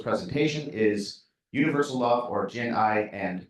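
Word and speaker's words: jiān'ài: that the most idea of jian'ai or jian'ai, pronunciation, jian'ai, which equals the idea of to love without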